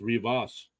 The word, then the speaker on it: Rivas: It's pronounced Rivas.